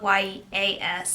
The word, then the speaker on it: Yas: guess, I don't know, it's spelled Y-A-S, so I like to say it Yas.